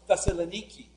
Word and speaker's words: Thessaloniki: They finally get to the city of Thessalonica, which in modern Greece is pronounced Thessaloniki.